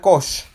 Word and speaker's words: Cox: Nuestro hermano Jerónimo Cox, se escribe Cox, se pronuncia Koch.